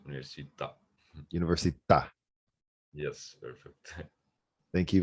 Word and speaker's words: università: School is scuola, and university is università. Okay. Can you pronounce those for me one more time? Yes, school is scuola. Scuola, Yes, while university is università. università, Yes, the accent on the A means università.